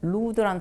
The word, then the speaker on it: lewd: 발음도 음탕한 중에 또 LEWD라는 루드라는 단어가 있어요. 근데 그거는 이제 한국식으로 읽으면 누드가 됩니다.